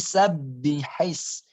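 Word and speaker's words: سبح: Maka jangan sabbihise. Sabbi. Kalau ba-nya yang pertama itu bertasydid, maka dipantulkan. Sabbihis. Tahan, pantulkan. Tapi tahannya jangan lama. Sabbihis, jangan lama.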